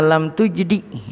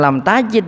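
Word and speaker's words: لم تجدِ: Summa iza lam tujdi. Lam tujdi artinya lam tupid. Bacanya bukan lam tajid gitu.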